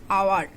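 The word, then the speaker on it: hour: see the example here is Hou are the pronounced is our not Howard the pronounced is our the first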